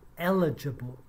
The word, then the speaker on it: eligible: one of the words she meant to say eligible but she had the wrong intonation and it sounded like illegible meaning you can't read